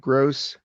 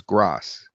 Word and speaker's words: Gross: Hey gang, this is Gross. Now, sometimes it gets my name wrong. It says Grass, so I'll write Gross like that, which sometimes it pronounces Gross, but it's closer.